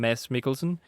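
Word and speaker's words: Mads Mikkelsen: But you know I I guess English people don't have a silent D in the name. Just ignore the D in the section how to pronounce his name. Mass Mikkelson.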